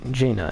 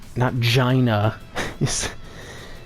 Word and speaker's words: Jaina: This is pronounced Jaina, right? Jaina, not Gina. Please tell me it's not pronounced Gina.